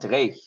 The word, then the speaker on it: dreich: Dreich.